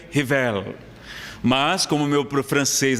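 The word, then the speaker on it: Rivail: falam francês dizem que a pronúncia correta seria rivel mas como meu francês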